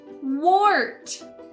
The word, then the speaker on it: wart: a witch for halloween and in this case the or sound is made by an ar pointing to the wart on her chin wart let's check out all